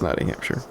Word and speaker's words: Nottinghamshire: You think it's pronounced Snowtinghamshire? What happened? Yeah. I don't think it's Snowding. Maybe it is, but it's sorry, it's Nottinghamshire.